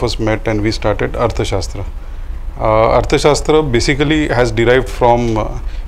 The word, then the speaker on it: Arthashastra: Okay, so tell us about Arthashastra. I think I pronounced your name Arthashastra.